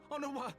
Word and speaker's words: Honorat: I've been saying his name wrong. Been pronouncing the T. No, no! What have they done to you? Honorat!